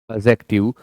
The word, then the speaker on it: adjective: एडजेक्टिव D silent है। जब भी डी जी डी जे ये एक साथ आते हैं तो डी का प्रोनाउंसिएशन नहीं किया जाता है।